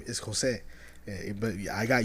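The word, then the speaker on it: José: Like my person, the J for me, the J is Jose. But I got used to saying it Jose. Yeah, Jose. But it's Jose is the way they say it.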